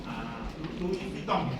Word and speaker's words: Louis Vuitton: Louis Vuitton, bacanya gitu.